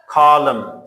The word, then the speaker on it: column: When there is M and after M there is N. So N is silent.